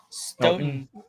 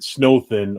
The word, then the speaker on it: Stoughton: Stoughton. Like snow with a tin at the end, not Snowthin or Snowton.